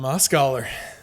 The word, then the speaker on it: Mosgaller: Tom Moscller, thank you for joining me.